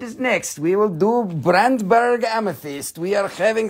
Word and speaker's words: Brandberg: amethyst we are having some brandberg bruntberg that's how you say it it's bruntberg it means burnt mountain yep that's because when the sun is coming down it looks burnt yeah okey-dokey which one